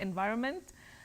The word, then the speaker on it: environment: really envir just simply environment in in V environment environment that n is not silent but you begin with the sounding in then vironment environment wow that's a surprise